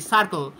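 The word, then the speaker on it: Surcle: এটা অর্ডার দিয়েছিলাম এটা সার্কেল কোম্পানির সার্কেল সোলার বানানটা দেখবেন বানানটা কিন্তু এস ইউ আর সি এল ই সার্কেল এটা অনেকে বলে থাকে সুরকেল এটা এসছে এটা আমি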